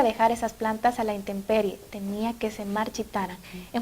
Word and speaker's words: intemperie: Pero gracias a su corrección vamos a utilizar siempre correctamente intemperie, una M antes de la P.